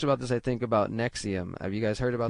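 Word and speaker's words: NXIVM: secretive uh cult which it's spelled NX IVM but it's pronounced as Nexium and even within Nexium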